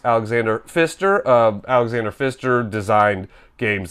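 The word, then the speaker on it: Alexander Pfister: it's from the famous designer Alexander F Fister Alexander pister but pronounced Alexander Fister um Alexander Fister designed games like marra Kaio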